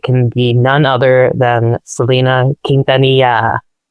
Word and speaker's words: Selena: She's like, "It's Selena. It's Selena. You can tell that people have been mispronouncing her name at her for the entire time of her her life in the public spotlight.